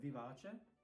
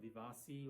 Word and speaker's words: vivace: Then we got vivace v. It's not vivasi or vivas vas. I've heard lots of pronunciation of this.